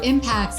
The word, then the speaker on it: Impax: world funds correct a little bit confusing so impacts is the way that you say asset management